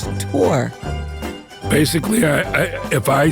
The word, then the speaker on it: Thor: a nephew whose name is Thor but it's pronounced Tor basically I I if I said that you